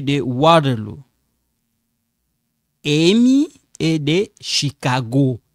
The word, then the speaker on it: Chicago: Amy est de Chicago. Chicago. This one sound like K. Sound like K. Okay?